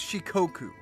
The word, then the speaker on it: Shikoku: I wanted to take a guess at I think it's pronounced Shikoku.